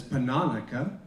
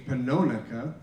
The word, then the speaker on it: Pannonica: tonight one is her name uh it's often pronounced as panonica but it's actually panonaka i learned from her niece so it's panonica